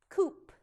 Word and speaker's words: coop: Look at the word coop. Coop, where a chicken lives. Coop. 4 letters, 3 phonemes, 3 sounds.